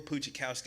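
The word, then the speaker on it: Pustejovsky: But his name is spelled funny, Phil Puchikowski.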